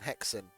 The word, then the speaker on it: H3X3N: guy on the Discord, his name is Hexen, but it was spelt with 3s, like in Leet speak, H3X3N, Hexen, and he does a lot